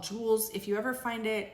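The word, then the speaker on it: Joules: The brand is called Jewels. If you ever find it, it's a pretty quick sale. Um, it's spelled J O U L E S.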